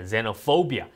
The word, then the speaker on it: xenophobia: 발음. 여기서 그 racism 나오고 그 다음 단어 나오잖아요. xenophobia.